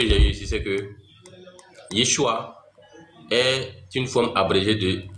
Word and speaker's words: Yeshua: comme ça mais la prononciation en aramé c'est Yeshua d la prononciation en aramé et en grec et en